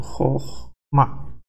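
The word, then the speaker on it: חכמה: Quando ele está numa sílaba propretônica, quer dizer, quando ele não é átono, não é tônica, é átono, vai ser pronunciado Chokhmah. A tônica está aqui, né? Ele é pronunciado Chokhmah.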